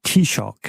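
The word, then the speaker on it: Taoiseach: Premier ministre en Irlande alors le terme Gaelic c'est tshock voilà petit choc c'est comme c'est c'est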